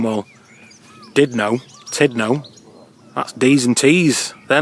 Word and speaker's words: Tudno: we've stopped here at the Church of St Tudno. I've been calling him St Tudno for ages, but it's actually pronounced St Tudno.